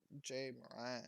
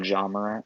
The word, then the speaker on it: Ja Morant: they have their Jay Morant. I believe that's how you say his name. Oh, Ja Morant.